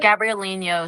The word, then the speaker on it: Gabrielino: It's the Gabrielino Shoshone Nation.